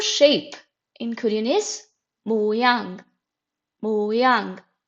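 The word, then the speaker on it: 모양: in Korean is mang moang it is very easy a two syllable word moang moang so shape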